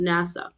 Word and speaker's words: NASA: something is an acronym these are being pronounced as syllables NASA initialisms each letter is